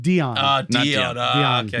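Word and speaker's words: Dione: No, he said Ion, not Dion.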